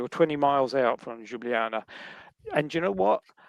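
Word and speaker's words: Ljubljana: So, Luba Janna, I can never pronounce that correctly. Jublana, that's that that's actually where our accommodation was at the end of this day.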